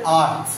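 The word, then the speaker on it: earth: আছে ভেঙ্গে ভেঙ্গে দেখাচ্ছি র এর উচ্চারণ হবে না আর টি এইচ টা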